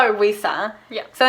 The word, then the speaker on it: Wuisa: And we just call her Wuisa. Yeah. So instead of pronouncing the L, Luisa, we do Wuisa with a W.